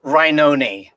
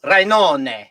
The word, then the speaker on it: Rainone: writer now let's see if i can pronounce her name correctly that rynony um is is that correct that's perfect so it's not reinone actually that's more perfect oh there you go